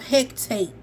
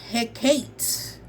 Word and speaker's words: Hecate: This is in the color Ghosts of Hectate. No, no, Ghost of Hecate, I guess, if I'm pronouncing that right. I thought it was hectate, but it's he he um like a purple iridescent.